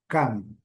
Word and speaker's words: come: Nesse caso aqui, em inglês é come. Escreve igual a preposição, mas a pronúncia é diferente. Come.